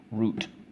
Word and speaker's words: route: Oh so let's go ooh silent e root okay so how do